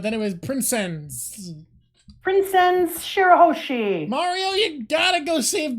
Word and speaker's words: Shirahoshi: prin prin princes Prince Shir hosi is that how you pronounce shiroshi Shir hosi you got it exactly nailed it in one I'm a I